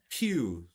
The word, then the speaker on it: pew: That's the you no, not PH. Yeah, just PEWS. PEW. S. Yeah, no H. The H was bullshit. That was fake news.